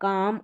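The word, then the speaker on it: calm: तो ये जो एल आ रहा है ये साइलेंट रहता है। पढ़ा नहीं जाता। जैसे वॉक, काम और वुड एलडी में जैसे शुड, वुड, कुड इन सब में भी एल आता है।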